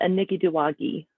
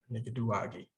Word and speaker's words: Anikiduwagi: So I'm still learning this word, but my understanding is it's the Anikiduwagi. Anikiduwagi.